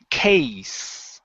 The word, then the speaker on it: case: with Caitlyn okay so instead of saying K with a z sound it's case with an unvoiced S case Okay as was